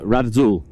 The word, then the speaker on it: Radazul: I always have to remember because it's actually spelt with a Z and you don't pronounce the Z, you pronounce the Z more like an S.